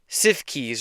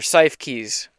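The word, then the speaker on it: Siefkes: S I E F Kes. So, I'm going with CIF keys or cy keys.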